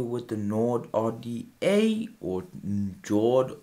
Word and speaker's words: Njord: Okay, guys, now we're down here with the Njord RDA, or Njord, I pronounced it with the J silent, the Njord RDA, guys.